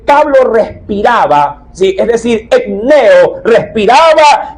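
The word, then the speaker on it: ἐμπνέω: el idioma español como, dice aquí, enneo, E-M-P-N-E-O. De ahí la dificultad un poquito de la pronunciación.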